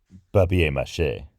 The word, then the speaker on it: papier mâché: Papier mache, I think, is the French pronunciation of it.